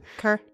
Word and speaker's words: Kir: Is it Kier or Kerr? It's K-I-R. How would you pronounce it? Kerr. Kerr? We can do Kerr.